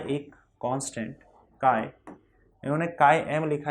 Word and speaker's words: chi: इसको काय बोलते हैं, स्पेलिंग है CHI काय ठीक है, स्पेलिंग है CHI लेकिन बोलते काय है।